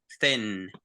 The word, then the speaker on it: thin: So we say, so all this air, it goes through your mouth, and you pronounce it with your teeth. So you say thin.